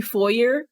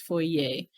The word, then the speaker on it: foyer: the all right i i was going to say four year but uh uh my manager is very fancy and i think she pronounces it proper she says foy yay she's so bougie i'm